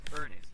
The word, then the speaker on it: Ernest: But the true way to say his name is Ernest.